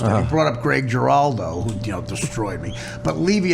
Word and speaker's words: Giraldo: But Levy at the end, of course, mispronounced Greg DeBaldo. DeBaldo. And it was the biggest. The first line when I went up there, I said, "Thank you, Bob. Don't worry about mispronouncing Greg's name. You're just one of 4,000 people in show business who's never said the name Greg Giraldo."